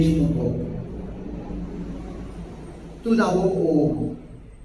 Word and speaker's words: Om: Tout d'abord, Om. Om, A ou M, A I M. A, Akar, Ukar, Makar.